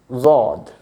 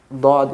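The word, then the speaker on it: ضاد: Pakistan, Bangladesh and Iran, they read it like with Z sound, Zod, okay? Because in Urdu, or I think in Persian as well, there is a letter, this one, the same sound, Zod. So they have their own references, but Dod is more popular, so we will stick with that.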